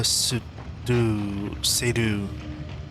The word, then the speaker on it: Seydoux: Leah Seydoux. Pretty sure the X is silent.